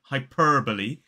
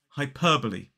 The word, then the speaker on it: hyperbole: The second syllable is p, We do not pronounce the R in this word. It's not hyperbole. That sounds a bit more American or erotic pronunciation. It's hyperbole.